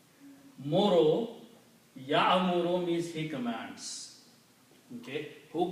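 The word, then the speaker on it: يَأْمُرُ: So it is not Ya. No. It is, they don't pronounce like Y-A, Ya, or Ya like that. Okay? This is a Hamza. So you have to combine like a jerk, ya, ya, not ya.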